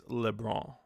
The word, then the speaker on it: Lebron: By the way, it's LeBron. I believe this N is silent.